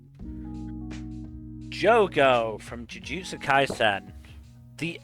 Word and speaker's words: Jogo: Jogo from Jujutsu Kaisen. The L machine. I'm sorry, Bill. You mispronounced that. It's Joe Goat.